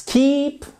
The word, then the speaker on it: keep: Let's keep, ici c'est un I long, let's keep in touch.